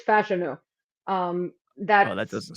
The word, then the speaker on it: Fashanu: do you pronounce it I always say fash I also did it also but apparently it's fashanu um that's that doesn't